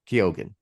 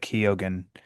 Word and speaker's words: Keoghan: I always pronounce. Is it Keegan? Keoghan. Keoghan. It's what he was on Happy Sad Confused. Yeah. And I think Josh Horowitz said Keoghan, and Barry confirmed it and said, hey, thanks,